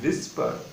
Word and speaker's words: whisper: विस्पर, H silent होता है, WHISPER।